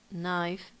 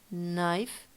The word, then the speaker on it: knife: When we see KN together, like in knife, night or night, it happens the same. The K is silent. Yeah. It doesn't sound knife night.